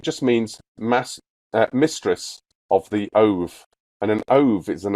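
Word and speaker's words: אוב: Ov. It's pronounced ov, not ob.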